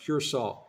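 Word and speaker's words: Curaçao: it funny c r a CAO but it's pronounced curol uh the thing I don't like about Cura it's a beautiful place man I tell you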